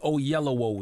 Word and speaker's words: Oyelowo: David Oyelowo is here.